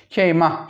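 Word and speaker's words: كيمه: Tabi buradaki he aslında burada bir elif bulunuyordu. Yani keyma idi. Hani burada bazı Arapçadaki kurallardan dolayı keyma şeklinde telaffuz ediliyor.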